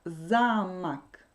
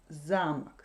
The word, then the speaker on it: замок: Donc, замок. Si l'accent tombe sur la première syllabe, замок, c'est un château. Si l'accent tombe sur la deuxième syllabe, замок, c'est une serrure.